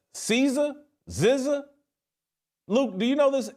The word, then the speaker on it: SZA: Zizza? Luke, do you know this S-Z-A? Do we know how to pronounce it? SZA?